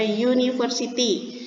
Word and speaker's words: university: Kenapa dia Kayak di sini cara bacanya university.